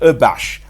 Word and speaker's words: abash: इसे प्रोनाउंस करते हैं, शुरू में UH का साउंड आता है, आगे बैश आता है, अबैश।